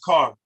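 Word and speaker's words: kar: to give you is k-a-r that's pronounced car and that means with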